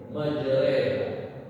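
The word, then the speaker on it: مجراها: Nah, bismillahi majre ya dari fatah ke kasrah di condongkan tadi majroha tulisannya mah memang dalam Al-Qur'an pakai fathah ya Pak ya tapi karena itu imalah maka bacanya dicontongkan ke dalam kas ya jadi tadinya ro menjadi re bismillahi majra itulah lah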